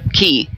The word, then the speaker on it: Quay: in the quay the key that word is pronounced key i i read it